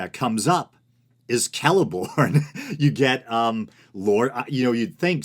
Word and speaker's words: Celeborn: a hard C or a K, at least at the beginning of words or names. So I believe Celeborn is supposed to be Celeborn, I think.